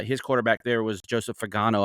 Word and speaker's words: Fagnano: quarterback there was Joseph Fagano. I hope I'm saying his name right. We had the same Fagnano. thing with Fagano. Is that how you say it? Fagnano. Fagnano. Okay, gotcha.